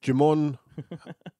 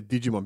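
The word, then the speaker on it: Djimon: Yeah, Jimon Hounsou. Yeah. Yeah. I always say Digimon because maybe the D is silent.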